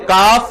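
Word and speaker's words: calf: Number 2, creating additional biological assets, for example काफ from काल्व्स, L silent होता है।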